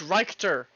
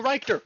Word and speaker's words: Richter: you say this word oh it's reichter it's like director scale I